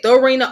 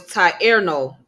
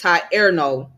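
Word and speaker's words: Thierno: so um you said throw Arena oh so the H is silent okay it's Torino okay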